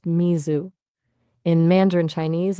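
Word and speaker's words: 水: Japanese is Smi. That's pronounced Mizu.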